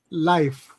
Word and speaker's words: life: Ok, recuerda que tienes que pronunciarlo completo. Life. Life. Life. Okay. Porque recuerda que Life. si lo dices sin life, la palabra lie significa mentira.